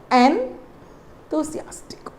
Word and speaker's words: enthusiastic: I'll tell you how it has to be pronounced. The word N, to. So the word TH, the letters TH has a sound th sound. So this has to be given a stress here. So you say enthusiastic.